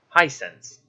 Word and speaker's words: Hisense: Hisense.